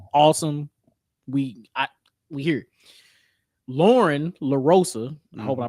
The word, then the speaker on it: Lauren LaRosa: Lauren Larosa, I hope I pronounced that right.